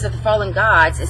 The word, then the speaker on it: Gad: names of the fallen gods is spelled g-a-d right but it's prince it looks like it would be pronounced gad but it's really god it's how it's pronounced